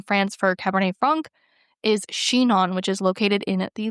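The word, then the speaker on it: Chinon: One of my favorite areas in France for Cabernet Franc is Shenon, which is located in the Lir Valley.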